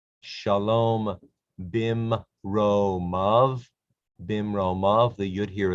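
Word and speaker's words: בִּמְרוֹמָיו: The yud is silent in these forms right here.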